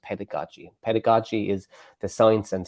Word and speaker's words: pedagogy: I couldn't pronounce it it was because of the double G it's a pedagogy Gaga is a pedagogy it's there's a j it's so the G the second G is actually with a J so it's